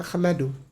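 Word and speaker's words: أحمد: Itu tidak ada ininya kasrohnya di bawah. Tapi hanya alif saja. Itu dibacanya bukan ihmadu sebenarnya ahmadu.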